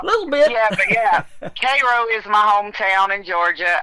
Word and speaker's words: Cairo: It's actually, they pronounce it Cairo, like Cairo, the syrup.